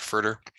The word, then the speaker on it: FRDR: Commonly, we pronounce it FRDR.